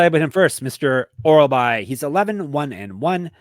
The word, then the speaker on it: Orolbai: So this one's Uros Medic versus Myktybek Orolbai.